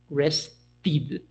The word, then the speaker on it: rested: The sound is a T sound, so we say rested, rest, rested, right?